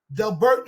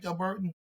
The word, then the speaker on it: Delbarton: Like this, Delburton is coming in. Delbarton. How do you pronounce it? Delbarton.